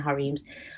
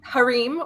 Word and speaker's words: harem: that one sure um i pronounce it harem i'm sorry yeah yeah i know either way harim or harem in former times the